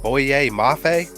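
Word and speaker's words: Boye Mafe: man i i even just like his name boyier mafe is that how you say it yep oh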